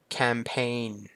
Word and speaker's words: campaign: ได้ เลย ถัด มา campaign C อัน นี้ คือ การ รณรงค์ นั่น เอง นะ ครับ C ก็ ตัว G ไม่ ออก เสียง นะ ครับ ผม ต่อ มา เป็น